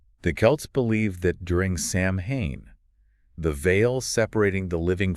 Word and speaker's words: Samhain: But the true origins of Halloween lie much further back in time with the ancient Celtic festival of Samhain, Samhain. pronounced Samhain, So celebrated from sunset on October 31st to sunset on November 1st.